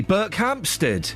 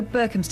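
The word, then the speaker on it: Berkhamsted: Burke Hamstead. No, Burkhamstead. It's not got an OP in it.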